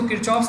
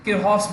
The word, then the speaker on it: Kirchhoff: ठीक है, इसको किरचॉफ्स नहीं बोलते हैं, किरहॉफ्स बोलते हैं।